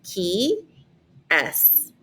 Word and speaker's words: qui est: And so it's literally pronounced like the parentheses, qui est. Qui est. That's how you pronounce that question on the top.